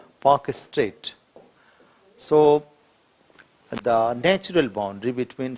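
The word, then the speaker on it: Palk Strait: and Sri Lanka is Pak Strait. L is silent, Pak Strait.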